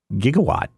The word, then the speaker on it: gigawatt: knows this already but back in 1985 they didn't know how to pronounce gigawatt and so somebody on set was just like I think it's Jake a lot and so they just went with gigawatt so there you go